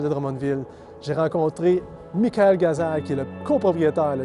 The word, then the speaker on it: Ghazal: Je suis avec Michael Gazal. C'est bien comme ça qu'on prononce? Absolument, oui.